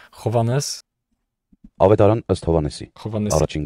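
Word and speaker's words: Հովհաննես: Yeah, it begins with a J, which is pronounced as H, Hovannes.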